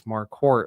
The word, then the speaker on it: Marquardt: and it said there's an R in there, so you have to pronounce the R. You don't pronounce the D at the end. You Uh-huh. just skip that and pronounce the T. And so that's why when I started practicing law, I told everybody it's Marquardt, like a quart of milk.